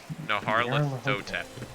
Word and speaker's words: Nyarlathotep: Think about it, he's Egyptian, so like, let that like work with your brain on how to say it. Yeah, Nyarlathotep.